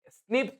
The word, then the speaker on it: SNP: .4 million locations where single bestas DNA differences snip will sort out snps single nucleotide polymorphism single nucleotide polymorphism pronounces as SS occur in humans this information